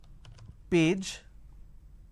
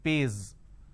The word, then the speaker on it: page: J and for example page so instead of saying page they pronounce this as pays instead of pronouncing Zone they pronounce this as Joan now zone is different Joan